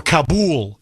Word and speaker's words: Kabul: the capital of Afghanistan, Kabell or Kabul as they pronounce it over there.